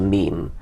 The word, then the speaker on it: meme: and just called it meme I wanted something that ideally should have rhymed with Gene but it doesn't quite rhyme with Gene it's a sort of